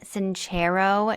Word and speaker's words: Sincero: It is Jen Sanchro, not Jen Sincero, and pronunciation is really important to me.